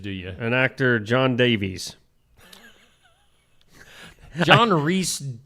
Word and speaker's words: Davies: An actor John Davies. John Reese. I think it's pronounced Davis, but okay.